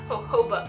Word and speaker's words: jojoba: It says it's packed with sea buckthorn berry, which is chock full of omegas, and I think it's pronounced jojoba oil. I don't think you pronounce them as J's.